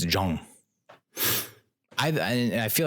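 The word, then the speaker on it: Zhang: i I would have bet my life that's pronounced Jang or Zang and it said it's Jong I I feel like a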